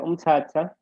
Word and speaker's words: Mthatha: Okay, remember Mthatha, it's actually pronounced Mthatha, but it's written like this. But it is pronounced Mthatha. Right. So we're looking for same word without H's.